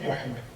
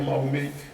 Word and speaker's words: Muhammad: Et même si on veut le faire, le prononcer autrement, on doit dire Muhammad. On ne doit jamais dire Mahomet, parce que notre prophète, il s'appelle Muhammad alayhi salam.